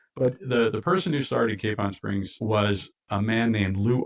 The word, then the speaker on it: Capon Springs: We pronounce it Capon Springs.